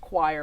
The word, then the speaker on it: choir: you could join the choir which is actually pronounced choir by the way everyone okay i know what